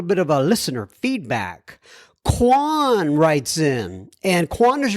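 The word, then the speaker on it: Cuong: feedback he says it's Quan he he spells it c u o n g but we pronounce it K like it's k w o n he says this Quan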